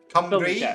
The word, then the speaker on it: Cymru: Cymru is the country, and then Cymraeg is the language.